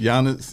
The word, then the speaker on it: Giannis: Giannis. The G is silent like lasagna. Antetokounmpo. Yes, it's Okay, Giannis. so wait, pronounce it again, RC. Giannis, like with a Y.